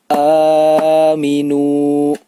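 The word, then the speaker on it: آمِنُوا: Cara membacanya yaitu dibaca panjang sebanyak 2 harokat. Atau bila menggunakan ketukan, maka kita bisa menghitung sebanyak 2 kali ketukan.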